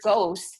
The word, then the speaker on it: ghost: So for example, in the word ghost, the H is silent.